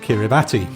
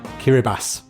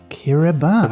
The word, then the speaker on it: Kiribati: it is not called kiribati oh so this country is spelled kiribati but in the local language ti is pronounced s so in fact it's called kiribati kiribati we were completely wrong